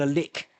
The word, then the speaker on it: lich: Uh, but I did do a uh an AI check on that and both both ways of pronouncing lich or lick are acceptable apparently.